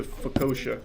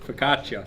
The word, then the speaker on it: focaccia: This time it's the focaccia. That's not how you say it. What is that word? Focaccia. Focaccia.